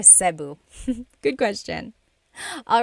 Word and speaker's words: Cebu: And I know some people say Sabu, but usually it's either Cu or Sebu.